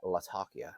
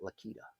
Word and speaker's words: Latakia: how to say it Latakia not lakita so Latakia it will be I first moved this